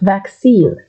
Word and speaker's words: vaccine: Next, vaccine. Vaccine. Break it down in the back. Scene. There's a small pause. Vaccine.